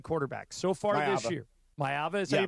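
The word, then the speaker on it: Maiava: Jaden Mava, the USC quarterback so far this year, Mayava, as you pronounce it, nine touchdowns, no interceptions.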